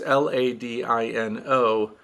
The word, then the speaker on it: Ladino: But I'll just spell it. I think it's Ladino. It's Ladino.